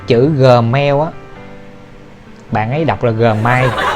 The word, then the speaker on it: Gmail: cái tự làm Gmail Gmail Gmail à mà phát âm đúng và gọi Đúng chính là Gmail Ừ mình không cần nhấn nhá chữ vậy